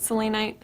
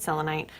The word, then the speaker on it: selenite: And then I also have selenite or selenite. People get super frustrated if I don't pronounce it both ways. I pronounce it selenite. Some people pronounce it selenite. It's all up to you guys.